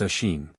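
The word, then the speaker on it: Oisín: said Finn turning to oen pronounced a shein the cuckoo calling from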